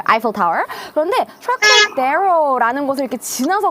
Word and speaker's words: Eiffel Tower: 와우, 여러분 저도 이렇게 에펠탑은 좀 많이 봤는데 에펠탑 발음하실 때 에펠탑 아니고요. 아이펠 타워이라고 해요. 맞아요. 아이펠 타워.